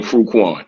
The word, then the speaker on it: Fruitkwan: Now, notice I say his name the way he likes to be said, because these guys still saying Fruitkwan.